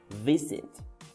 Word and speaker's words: visit: It is more likely to be pronounced as a z sound if it comes between two vowel sounds. For example, wise, visit, or busy.